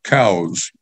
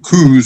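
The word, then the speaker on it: Coues: to mention Dr Elliott cows not Coos or cooies as most of the redneck deer hunters call them the man pronounced his name Cows as in wait till the cows come home there's an article verifying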